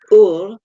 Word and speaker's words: Ur: And I have a problem with this name because the British always mispronounce it and call it but in fact it's Ur. So anybody listening now, you know how to pronounce my name.